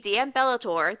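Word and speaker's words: Diem Bellator: Our FMC, DM Bellator, that is how you say her name, listen to the audiobook,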